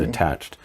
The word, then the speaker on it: attached: there's a third issue some words with an e d ending have a t sound for example attached not attached not attached with a hard sound but attached so in fact there's